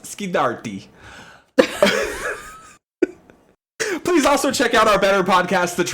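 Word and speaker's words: Scorsese: Sceddarti. Hey, it's pronounced Skardi.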